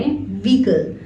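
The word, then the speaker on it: vehicle: भी कल नहीं वीकेंड इसमें ह लेटर साइलेंट है तो आप इसको बोले व्हीकल किसी भी विकल से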